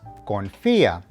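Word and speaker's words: confía: note of the accents for example the word confia which means to trust or confide needs to have the emphasis of pronunciation on the eye so it is confia corazon which means heart is pronounced corazon easy right muy bien tip number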